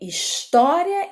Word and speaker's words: História: O nome é História em Quadrinho. História começa com a letra H. O H, ele é mudo, ele não tem som, ele não fala.